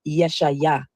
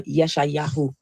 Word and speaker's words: Yeshayahu: The funny thing about the name Isaiah is many people don't know that the true Hebrew pronunciation of Isaiah is Yeshayah or Yeshayahu.